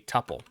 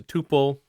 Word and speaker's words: tuple: type is called a tuple you might also hear it referred to as a tuple both pronunciations are fine you'll hear me say Tuple Tuple probably interchangeably so let's talk about